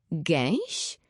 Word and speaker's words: gęś: Gęś? Czyta się to tak dziwnie. Podzielmy na sylaby gę i ś. Gęś, koś.